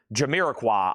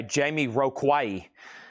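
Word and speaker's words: Jamiroquai: Y'all don't even want to know how I used to pronounce this. Jiraqua, I think I used to say Jamie Roquay.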